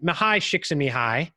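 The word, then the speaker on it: Csikszentmihalyi: effect of the first four pillars I mean mahai shakes in me hi yes that's actually how you pronounce it and usually I have to have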